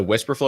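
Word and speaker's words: Wispr Flow: So Whisper Flow, it's spelled WISPR. It's like, and then Flow, FLOW.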